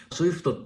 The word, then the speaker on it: SWIFT: なんですねスイフトっていうのは Swift と書いてスイフトというんですがえ皆